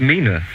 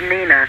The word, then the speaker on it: Nina: on that um and I believe Mina is on the line I hope I pronounced your name right my name's Nina Nina yes oh right and